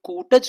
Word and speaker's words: कुटज: रहे हैं इसको अगर कुटज कहते तो ज्यादा अच्छा होता मेरे उच्चारण प ध्यान देना पहले उनको याद आया अरे यह तो कुटज है छोटा ऊ कुटज फिर कह रहे हैं